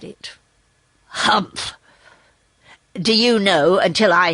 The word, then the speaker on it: humph: said the sand fairy if you read this story aloud please pronounce hump exactly as it is spelt for that's how he said it humph do you know until